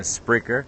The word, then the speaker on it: Spreaker: the podcast from there but if not then spricker it's spelled s p r e a k e